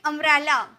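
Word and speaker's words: umbrella: यूज़ करेंगे next है अंब्रेला तो क्या चीज का साउंड आ रहा है अ का साउंड आ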